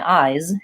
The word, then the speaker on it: eyes: but you can hear if I say it with an ass for example my ice versus my eyes you can hear that the first one is not correct we do use a